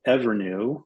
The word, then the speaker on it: EVRNU: I'll give you another example of a company that's called Evernew, which is spelled EVRNU.